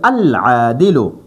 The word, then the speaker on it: العادل: لام لګي نو العادل دا عین حرف قمری دی نو اوس په مونږ دا لام باندې تلفظ کوو نو مونږ به وایو العادل.